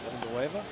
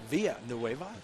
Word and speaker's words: Villanueva: It is Villanueva or Villanueva. Whatever you want to go. Whatever you want to go. Pronounce the L's. Don't pronounce the A's.